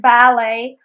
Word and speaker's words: ballet: In the word ballet, of course, you just drop the final T because it is a foreign word.